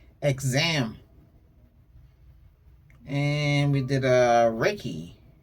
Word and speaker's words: Reiki: And we did a Reiki. Not Ricky. Ray.